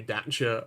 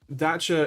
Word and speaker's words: Dacia: Dacia is, as I was informed by a very French Renault PR man, is the correct way to pronounce Dacia.